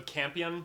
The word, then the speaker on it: Campion: Is it Campton? How do you say it? That's an I. So Campion. Campion.